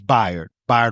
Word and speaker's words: Bayard: When you think of his name, think by like bisexual. It's spelled like bae, like like the bae, but it's by Rustin.